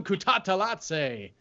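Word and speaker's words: Kutateladze: telling casey that when if i pronounce kudata i have to pronounce like a rig announcer because that's how i heard it and got the pronunciation so you can't just say it normally it's guram kutatalatse yeah that's not amazing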